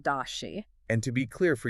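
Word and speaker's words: 大写: In Pinyin, that's pronounced dashi.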